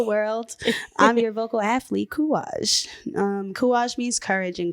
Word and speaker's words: Kouraj: I'm your vocal athlete, Kuage.